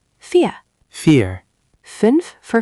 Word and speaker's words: fünf: Fünf for 5. Remember the U sound, like pursing your lips for U, but saying E.